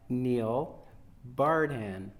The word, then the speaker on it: Neil Bardhan: And I'm here with the Executive Director of Broad Street Review, Neil Bardhan.